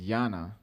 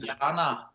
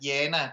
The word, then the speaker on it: Jana: Yana, and someone might even pronounce it Jana, but that's like the dull Danish version of the name. okay. That's But it is interesting. Jana. That is the proud Faroese way to pronounce it.